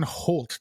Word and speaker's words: Holt: I'm Matt Cousineau, and today I have a special guest host on, Holt. Did I say that right? Holt? Did I pronounce that correctly?